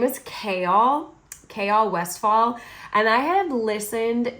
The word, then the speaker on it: Chaol: So his name is Chaol. I know a lot of people call him Cole.